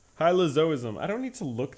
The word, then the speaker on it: hylozoism: are you kidding me that is unbelievable pronounce hylozoism okay hm what hm is that a person hylozoism hylozoism I don't need to look that up I